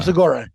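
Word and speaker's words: Segura: Tom am I saying his last name right seura is that how you say his name yeah Tom seura yeah the two bears guy he's funny dud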